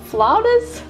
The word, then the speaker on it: flautas: And I looked up the pronunciation of these and it's not whatever I was saying. I was even reading the spelling wrong. It's flautas, something like that. I'm sure it's still not sounding right, but yeah, I'm aware